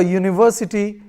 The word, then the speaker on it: university: a hole also a university Union European or a unicorn a useful article etc because these words University or Union etc begin with a consonant sound that of you similarly we say a